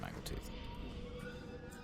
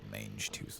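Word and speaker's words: Mangletooth: Is it mangle? Yeah, it is mangle tooth. Make sure I was saying it wrong. like mange tooth or something like that.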